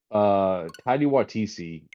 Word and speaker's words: Taika Waititi: So, Taika Waititi, and I think is what you pronounce his name, right?